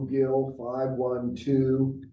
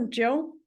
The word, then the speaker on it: Gill: Michael, oh, am I always saying it, or Jill? Gill. Oh, Gil, I think there's a Jill. It's like, I've been saying your name wrong the whole time.